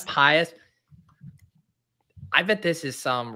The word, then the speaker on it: Pius: It's like Pontius Pilate, it's trying Pius. I bet this is some random ass Degrassi character. Pius does kind of sound like a French Canadian actor, doesn't it?